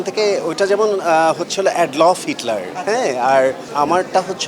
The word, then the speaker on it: Adolf: অ্যাডলফ, হ্যাঁ, অনেকেই উচ্চারণটা করে প্রনাউন্স করে অ্যাডলফ, কিন্তু আসলে অ্যাকচুয়ালি আমার নাম অ্যাডলফ।